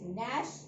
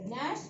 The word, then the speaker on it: gnash: The first word is gnash. Here G is silent. So gnash, it is a verb to grind one's teeth together.